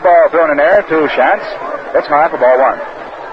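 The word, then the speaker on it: Schanz: ago the difference between Shan of Boston and shant of Philadelphia shans at Boston spells his name s c ha NZ and it's pronounced as though the were a w in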